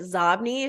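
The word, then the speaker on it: Xobni: listening is it was zobny it was originally called zobny but Bill Gates pronounced it zombie so they changed the pronunciation of the name and it's inbox spelled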